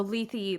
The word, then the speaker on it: Lethe: Lethe, thank you.